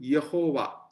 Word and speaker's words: Yehovah: There is only a sound called Y in Hebrew. But it is called Yehovah.